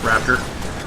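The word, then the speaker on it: Raptr: the program Raptor is, it's spelled R-A-P-T-R. There's no E or A or O or anything, it's just Raptor.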